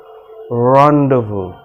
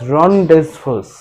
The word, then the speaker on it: rendezvous: to be really interesting because you have to pronounce this word really carefully the word is rundown rendezvous now when you see the spelling of this word you will think that it is rhonda's first but that's not the correct way of pronouncing